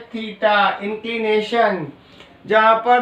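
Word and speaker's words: theta: थीटा, इसको pronounce कैसे करते हैं?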